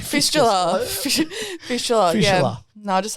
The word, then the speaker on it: fistula: Like there's a whole bunch of other complications that you've had with like was it fiscus? How do you say it? Fistula. That's it. Fistula.